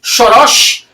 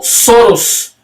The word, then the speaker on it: Soros: solos é o chorash embora a pronúncia do sobrenome húngaro seja shorosch eleou conciliou suas relações americanas inglesas pronunciando soros Seu único irmão Paul é 2 anos mais velho que ele.